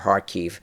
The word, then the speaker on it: Kharkiv: And the Russians are starting preparatory activity for a renewed drive against Kharkov or Kharkiv, however you wish to pronounce it.